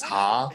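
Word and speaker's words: ห้า: Dude, apparently in Thai, like the pronunciation of the number 5 is the same as Ha, right?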